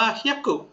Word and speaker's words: 百: คน อ่ะ มา เริ่ม ต้น นะ คำ ว่า เฮี้ยกุ นะ ครับ เฮียุ แปล ว่า ร นะ ครับ 100 บาท นะ ฮะ เุ บซดes เฮยกุ บซดes นะ ครับ บา ซึ นะ ครับ เฮียกุ